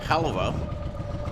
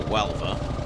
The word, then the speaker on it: Huelva: The long trip from Barcelona to Halva, or Huelva, whichever way you see to pronounce it, on a 1950s Panhead Harley Davidson.